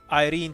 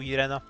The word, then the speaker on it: Irene: How you pronounce Irene really depends on what part of Europe you're in. It can be anything from Irene to Irena. Like, half the countries in Europe have some version of that name and they all pronounce it differently. Irene, Irena, it's all over the place.